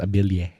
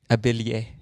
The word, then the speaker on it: Abili: Our last name is actually pronounced Abilie Abilie. in Philippines. No, but that's actually kind of Spanish, right? Because the two Yes, L's the make two a L's, the two le. Abilie.